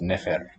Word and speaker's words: nfr: Thus, Kheper gets pronounced as Kheper, and NFR gets pronounced as Nefer.